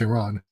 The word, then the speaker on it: Iran: I'm pronouncing Iran. I always grew up hearing it Iran, and I still say that out of habit, but no, it's Iran.